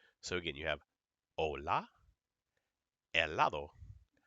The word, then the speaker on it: helado: Never, never, never pronounce an H in Spanish. Okay? If you see it, know it's there, but you don't pronounce it.